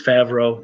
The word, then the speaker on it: Favreau: You even got to say his name wrong the way that Doomcock does? Come on. It's Favreau.